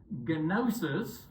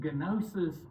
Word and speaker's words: gnosis: Okay, the easiest way to remember the Gnostics is gnosis. Okay, you don't pronounce the G in Greek, but gnosis is the word, is the Greek word for the English word knowledge.